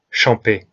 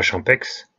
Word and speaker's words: Champex: Dans les Alpes, les X et Z ne se prononcent pas. Après recherche sur le net, on prononce donc Arnouva et pas Arnouvaz, Champé et pas Champex, et bien entendu Chamonix et pas Chamonix.